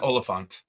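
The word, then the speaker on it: Oliphaunt: And it's what was needed to get rid of how's it pronounced? The Oliphant.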